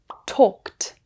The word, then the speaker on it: talked: While talk and laugh end with the K and F sounds, so the ED is pronounced T. Talked, talked.